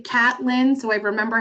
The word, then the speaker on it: Catlin: Now, her name is probably Caitlin Tucker, right? If you know how to spell it, but it's spelled Catlin. So I always say Catlin, so I remember how to spell it.